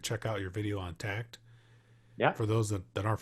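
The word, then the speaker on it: Takt: think for those of you not familiar with tact it's spelled t-a-k-t right bruce yes t-a-k-t it's a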